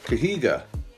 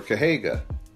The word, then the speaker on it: Kahega: carded Congo figure and this is kahega or que Haga i think they pronounced a kahega in the movie this is one of